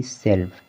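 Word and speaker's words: self: जैसे कि सेल्फ, यहाँ पर यफ से पहले यल आया हुआ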